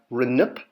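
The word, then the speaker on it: rnpt: year or Regional year reip there's no Crossing off here because they're all original sounds there's no sound consonants or complements excuse me so you're going to pronounce every single letter and this is also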